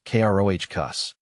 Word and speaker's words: crocus: It's pronounced k r o h cus with a short o sound and emphasis on the first syllable.